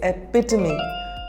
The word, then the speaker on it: epitome: The correct pronunciation is epitome.